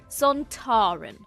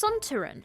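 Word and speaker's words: Sontaran: and actor Kevin Lindsay decided that it should be pronounced with the emphasis on the tar son Taran director Alan Bromley disagreed believing that it should be announced sonteren Lindsay responded well I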